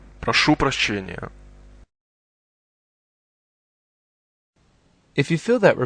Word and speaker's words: Прошу прощения: Excuse me is actually two words. Proшу прощения. Try and roll your R's. Listen and repeat. Прошу прощения. Прошу прощения.